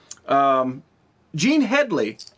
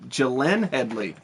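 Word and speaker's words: Glenne Headly: Gene Headley. Gene Headley. I'm sorry. I can't pronounce her first name. It's Gillian Headley.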